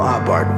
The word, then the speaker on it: Abarth: little bit about Carl abart by the way the H is silent according to theat he